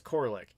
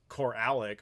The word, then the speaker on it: Koralik: my last name is just don't pronounce the a but naturally a lot of people do that's why it's coric but if you say cor alic or cor Alik or something that that happens a lot that's how you you